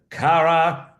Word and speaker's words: Kara: Her name is Cara Kurtz. Let me spell it for you.